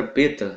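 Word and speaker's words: βήτα: a letra Beta Ok a letra Beta da qual se pronuncia em português Beta mas uma pronuncia Beta ele ele através doos tempos ele ganhou no no grego moderno o som de v Ok então a pronúncia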